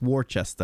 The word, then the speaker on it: Worcester: But yeah, you're saying it wrong. It's Worcester.